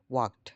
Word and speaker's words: walk: দেখেন ওয়াকড, হ্যাঁ, ওয়াকড। L will be silent here. এলটা এখানে সাইলেন্ট থাকবে প্রনাউন্সিয়েশনের ক্ষেত্রে। ওয়াক, হ্যাঁ, এলটা সাইলেন্ট থাকবে।